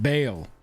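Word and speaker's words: Bhaal: creature cards we want those dying it is pronounced baal like christian got it behale lord of murder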